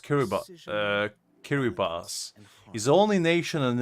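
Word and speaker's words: Kiribati: so actually the furthest one is uh kirati pronounced kir uh kiribas is the only nation on Earth to per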